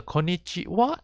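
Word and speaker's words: こんにちは: case the cut the konichiwa and konbanwa even though it's written as ha it is actually pronounced as wah origin from the kanji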